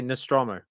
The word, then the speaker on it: Nostromo: they'll just do the nostram how do you pronounce it again well me me I I I I say Nostromo yeah nostr yeah yeah yeah yeah but yeah